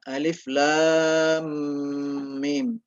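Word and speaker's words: الم: Alif Lam Mim ya Alif Lam Mim jadi cara bacananya itu jadi lamnya panjang alif lam baru masuk Mim mimnya tasdid berarti panjang juga diasdid didengungkan Alif Lam Mim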